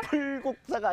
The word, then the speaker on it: 불국사: 불국사가 아니라 불국사라고 읽어요.